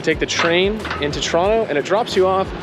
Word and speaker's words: Toronto: are heading in to Toronto or Toronto if you're a local you don't pronounce the second T we are going in